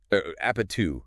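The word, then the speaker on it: 아파트: Which is apatu, if you're trying to pronounce it.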